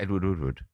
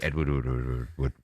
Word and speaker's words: Edward Woodward: You know, we're talking about Edward Woodward. Bro, you're saying his name wrong.